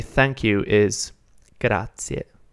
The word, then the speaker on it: grazie: But for now, just remember that the way to say thank you is grazie, grazie.